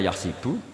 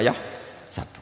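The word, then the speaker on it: يحسب: Karena dalam qiraat sab'ah ada yang baca yahsibu, qiraat kita baca yahsabu. Tapi guru-guru kita kalau ngajar fikih itu bacanya yahsibu. Tapi kalau baca Quran yahsabu. Ya kan Quran kita kan ayah sabu Allah yaqdiru alaihi ahad, bukan dibaca ayah sibu.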